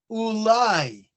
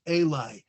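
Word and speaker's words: אולי: And that's why he says ulai, where the word could be pronounced Eli.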